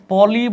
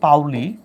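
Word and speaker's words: Pauli: আর এটা হচ্ছে পলি বলা হয়, বাট আসল উচ্চারণ হচ্ছে পাউলি।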